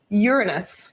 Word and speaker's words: Uranus: kids here at the planetarium and that is Uranus but did you know it's actually pronounced Uranus which I also think is pretty funny how